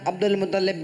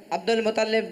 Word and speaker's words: عبد المطلب: نہیں نہیں تلفظ غلط ہے، عبد المطلب تھا تلفظ غلط ہے. آپ بھی مدنی تربیت کا آپ خدمت کا موقع دیں. عبد المطلب صحیح تلفظ بولو نا یار، ایسا نہیں کرو.